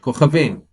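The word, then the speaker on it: כוכבים: The first kaf of the word kochavim is the first letter of the word, and therefore it gets a dagesh and pronounced as C, as in cat. The second chaf is the third letter of the word. It doesn't have a dagesh, and therefore is pronounced the same as the letter chet.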